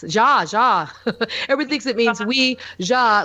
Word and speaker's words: Ouija: what it is so it's not we is we JA originally when it was patented it was to be pronounced as we JA although now everybody says we G that that's become okay to say we G